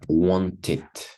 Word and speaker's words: wanted: Entonces, termina en T y este sí lo voy a pronunciar wanted.